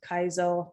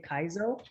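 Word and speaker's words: Kaiso: name, that I named Kaizo, after my favorite type of calypso, soca music. The correct pronunciation is Kaizo, but a lot of people can't do the sing-song pronunciation, so we say Kaizo.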